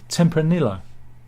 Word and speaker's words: Tempranillo: Tempranillo. You've got to get a yo at the end.